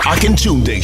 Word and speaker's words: Akintunde: It's the Akintunde Show.